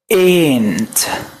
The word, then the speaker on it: ant: ant. كأنك بتقول أنت، بس بنمد في الاي دي شوية.